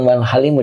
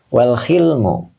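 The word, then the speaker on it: والحلم: Oh, bukan wal halimu dibacanya. Wal hilmu.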